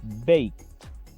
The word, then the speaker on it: baked: Si se dan cuenta, esta palabra termina con una E, pero como la última consonante es sorda, la letra K, se pronuncia baked, como una T al final.